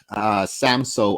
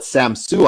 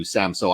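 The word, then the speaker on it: Samsø: In fact, I used to call it Samsu Island, and I learned how to pronounce it properly from a young Haida man when I was up on Haida Gwaii once.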